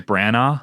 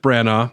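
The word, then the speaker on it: Branagh: Brana. Kenneth Brana.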